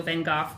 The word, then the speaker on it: Van Gogh: And well, and they pronounce Van Gogh Van Gogh because that's technically the Dutch pronunciation.